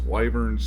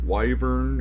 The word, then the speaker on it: wyvern: is Neutralize Poison, because Wyverns do have the ability to do it. Yeah, I guess I've said it wrong my whole life. Apparently it's Wyvern and not Wyvern, as I've always said it, so oops.